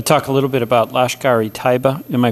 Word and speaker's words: Lashkar-e-Taiba: I want to talk a little bit about Lashkar-e-Taiba. Am I pronouncing that right?